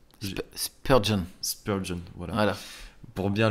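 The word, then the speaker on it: Spurgeon: texte que je vais lire de on le prononce Spurgon.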